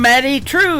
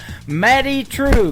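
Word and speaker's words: Madye Trew: That is a brand new single from Maddie True. It is M A D Y E on her first name and True is spelled T R E W. Matty True.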